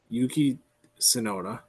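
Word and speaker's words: Yuki Tsunoda: on the second part Yuki sonota Yuki sonoda um silent T there we go uh and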